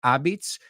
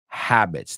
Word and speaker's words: habits: La H sí que la pronunciamos. No es habits, sino habits. Dilo conmigo, todos.